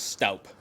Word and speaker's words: Stoop: Doug Stoop. Doug Stoop. Now, what do you know about Doug? Actually, I think the proper pronunciation of his name is Staup.